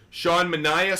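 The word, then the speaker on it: Sean Manaea: just interesting how about Shawn manah I pronounce this dude sha manah so far this year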